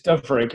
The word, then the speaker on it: Dyfrig: Yes, it's Dyfrig. Everybody calls me Dyfrig.